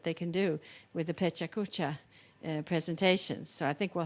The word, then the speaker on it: Pecha Kucha: Because I've heard Pechachka, I've heard Pecha Kucha, I've heard all kinds of things. Pecha Kucha. Okay, thank you.